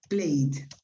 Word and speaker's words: played: one of those ones the pronunciation of id is like d for example played okay you pronounce played played yeah well the opposite